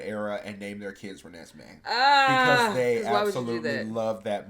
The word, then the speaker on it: Renesmee: it's, I think it's It's Renesmee. Renesmee. Yes, because Okay. it's a combination of Renee and Esme, Esme.